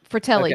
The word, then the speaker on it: Fratelli: How you pronounce it? Is it Ma? Yeah, Fratelli.